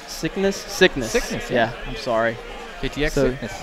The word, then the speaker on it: Syknis: And let's see, Rosalina, how do you say that name? Syknis. Syknis.